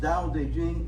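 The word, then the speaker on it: 道德經: It's an ancient Chinese text called the Dao De Jing. The Dao De Jing. It's pronounced Dao De Jing.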